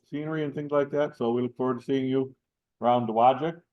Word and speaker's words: Dowagiac: So we look forward to seeing you around Dowagiac. Say Dowagiac. Yep. You can pronounce Dowagiac.